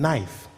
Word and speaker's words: knife: Psychology p is silent in knife K is silent in wife the husband